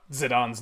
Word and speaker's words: Zidane: that huh like Zidane I never thought zidane's name was pronounced zidane I thought it was like zidane or or zidane at worst but it's